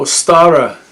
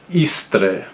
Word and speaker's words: Eostre: So Ostara is more of it's kind of a modern pronunciation. Really, the the old Anglo-Saxon pronunciation was Eostre, or even Eostre.